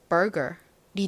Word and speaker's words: burger: ur이나 er이나 다 무슨 소리가 나나요? 한국어의 소리와 비슷한 소리가 나죠. 그래서 읽어보면 burger이 됩니다. 한국식으로는 리을 받침을 보통 빼고 발음을 하기 때문에 버거라고 하죠.